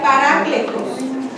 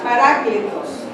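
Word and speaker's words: παράκλητος: de un vocablo griego que que que se pronuncia pará cletos la palabra consolador viene de un vocablo griego que significa pará cletos que literalmente quiere decir alguien llamado al lado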